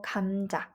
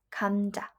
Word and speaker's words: 감자: So whenever the consonant g comes at the beginning of the word, we will pronounce it and romanize it with the G instead of K. Look at example 감자, 감자.